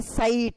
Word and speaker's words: site: But when you add E And when you write it as SITE, you don't pronounce it as anymore sit, but you say sight.